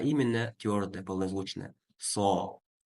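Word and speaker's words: صَ: Все эти буквы, когда огласованы фатхой, произносятся через звук О.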